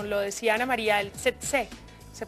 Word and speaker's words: tsetse: Bueno, conocemos y hemos visto el mosquito como lo decía Ana María, el tsetse, se pronuncia así, ¿verdad?